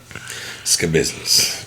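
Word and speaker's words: Schabusiness: and i watch the video that's how they pronounce it ska business it's a cool ass last name smell funny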